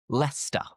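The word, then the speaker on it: Leicester: Lester. And for many people, what you're thinking of is leester, right? Leester. But no, forget the ce because the correct pronunciation is lester.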